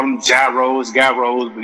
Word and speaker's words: gyros: chicago uh greek uh heroes as people call them gyros gyros but it's pronounced heroes um is it a